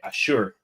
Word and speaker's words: Asshur: Ashur, is spelled Asshur, right?